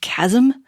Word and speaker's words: chasm: I'm sure also apparently the word Chasm is pronounced Chasm which is not how it is spelled so